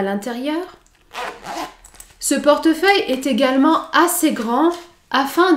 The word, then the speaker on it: portefeuille: portefeuille pour les contenir pour prononcer le mot portefeuille vous devait prononcer la lettre e au milieu porte porte feuille portefeuille car sinon il est impossible de prononcer ce mot car il y a trois consonnes qui se suivre et pour prononcer le